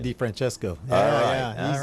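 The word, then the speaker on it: DeFrancesco: he is right there and what's the correct pronunciation D Franchesco I got it hey's a winner he's a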